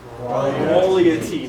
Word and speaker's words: QUALIaTY: This guy, we're going to say QUALIA. Very good. T. Very good. So together it is QUALIaTY. Very good. Yes. QUALIaTY.